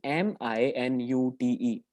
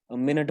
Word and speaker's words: minute: And the third example is MINUTE. देखो कोई इसको कभी मिनट बोलता है, कोई कुछ बोलता है, बट इसका भी क्या होता है, कॉन्टेक्स्ट के हिसाब से वी इट्स प्रोनाउंसिएशन चेंजेस.